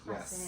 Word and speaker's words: Klasse: Is that how you It's pronounce KLASSE, it? KLASSE.